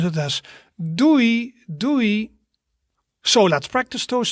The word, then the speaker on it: doei: So you would do that with friends or family or something, and that means like bye, bye, and you pronounce it as doei, doei.